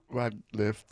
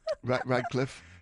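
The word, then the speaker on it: Rateliff: play some Nathan rag rag LIF and the night sweats am I saying it wrong shovel pardon R rag Cliffe you punctuate it well what is it Nathaniel rft R okay this is naan and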